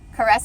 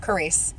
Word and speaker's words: Carice: Caress or Carice? Carice. Okay, because the way it's spelled, it could be caress.